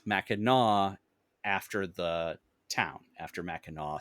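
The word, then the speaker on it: Mackinac: island itself and the surround uh it is pronounced maau after the town after maau city um ah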